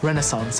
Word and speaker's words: renaissance: Dolly's word was renaissance or renaissance, as I would pronounce it.